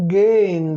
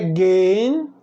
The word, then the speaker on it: gehen: Vem do verbo gehen do alemão. Aí você pode perguntar, por que é gehen? Aqui tem um H e eu não digo gehen. Porque a tônica, a palavra mais forte, a sílaba tônica é no G.